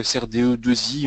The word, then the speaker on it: SRDEII: cette cette conférence donc on prononce plutôt SRDE 2i on l'écrit avec avec